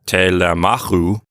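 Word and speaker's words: Τηλεμάχου: and again the Omicron Upsilon diphthong is long it makes that last syllable long and so we pull the accent one syllable to the right so it's telemachu and that's possessing the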